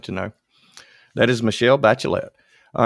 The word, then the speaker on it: Bachelet: want to talk about someone named michelle bachelet bachelet i pronounced that wrong bachelet michelle bachelet in 2000 she became health minister